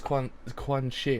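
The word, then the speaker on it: Quanxi: Oh, so it's Quan Shi. Okay, thanks. My pronunciation sometimes is terrible.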